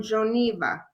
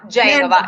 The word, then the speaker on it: Genova: She lived in Gangi, and she came here on a ship from Geneva. Am I saying it right? Genova, in the north of Italy.